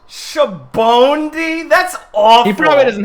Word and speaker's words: Sabaody: Japanese guy says Shabondi. Shabondi? Ew! Ah! That's what the One Piece announcer says. Shabondi?